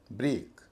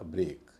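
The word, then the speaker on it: break: आर इ ए के ब्रेक इसमें इ ए है छोटे ए का उच्चारण होना चाहिए होता है लंबे का ब्रेक इसी तरह ग्रेट जी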